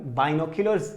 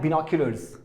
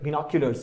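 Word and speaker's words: binoculars: आगे देखो, ये है वर्ड आप देख पा रहे होंगे, बाइनोक्यूलर्स नहीं है, गलती प्रोनाउंसिएशन में भी मत ना करें। तो क्या है, बिनोक्यूलर्स, राइट, बिनोक्यूलर्स।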